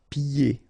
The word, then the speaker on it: pieds: Pieds. Okay, so you don't hear the D.